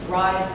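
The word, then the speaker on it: Reye: know if anybody remembers rise syndrome or Ray syndrome pronounce both ways but um I'm old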